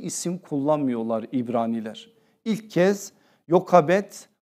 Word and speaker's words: Yokebed: Yokabet ya da bir diğer telaffuzuyla Yohabet.